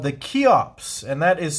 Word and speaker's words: Kheops: but today I have a knife called the key ops and that is spelled KH e o PS this is a